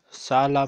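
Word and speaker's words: صالة: Sala mean hall. Sala. When this ta marbuta is written at the end, it is pronounced like ha.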